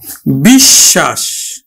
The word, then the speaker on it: বিশ্বাস: টা দুইবার উচ্চারিত হলো বিশ্বাস বিশ্বাস আমরা দেখো পদের মধ্যে ব ফালা আছে এজন্য কিন্তু ব ফালাটা আমরা ব ফালা যুক্ত বর্ণটি অর্থাৎ তালব্য স টা দুইবার উচ্চারিত করব আমরা উচ্চারণ করব কিন্তু